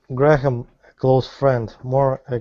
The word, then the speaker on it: Graham: Graham. It just Just like the measurement gram. Graham.